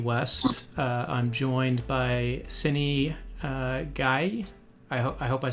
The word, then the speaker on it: Gueye: I'm joined by Seny Gueye. I hope I said that. Did I pronounce that right, Seny? gay. Yes. Okay, like Marvin Gaye?